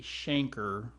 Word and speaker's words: chancre: in stages and primary stage this is actually pronounced a chancre this little area there in fact I should probably just fold that right there it's kind of a rubbery lesion but it's pronounced Schenker believe it or not the infection appears at